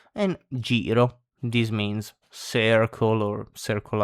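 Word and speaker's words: giro: are gelato ice cream gelato j gelato and jirro this means circle or circle around depending on the situation.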